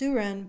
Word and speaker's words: Suren: and always suren PS no one ever gets my name right it's pronounced suren but some friends jokingly